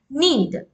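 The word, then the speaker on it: knead: and stretching it so actually here K is silent we pronounce it as need okay K is silent here so need the dve for about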